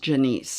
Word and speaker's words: Janice: And I actually think her name is pronounced Janice.